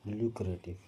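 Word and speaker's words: lucrative: ल्यूक्रेटिव pronunciation इसका याद रखिएगा, ल्यूक्रेटिव।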